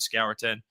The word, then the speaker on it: Scourton: I've heard Scorton. I've heard Scourton. It's Scorton.